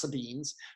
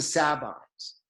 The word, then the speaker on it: Sabines: And one of these neighboring cities is the city of the Sabines, sometimes pronounced Sabines, but it's the Sabines.